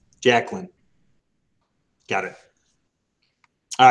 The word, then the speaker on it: Jacqueline: so how do you say your first name jacqueline jacqueline got it all right can you guys all